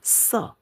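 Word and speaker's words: 色: Nah, di sini ada ditambah kepala di sini, badan orang, bacanya se.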